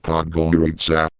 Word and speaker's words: Podgorica: Pajorica, pronounced Podgorica, was no Bosman but a place burbling with progress all the same.